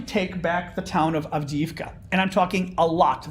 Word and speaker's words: Avdiivka: So Avdiivka, I should say, pronounce it correctly.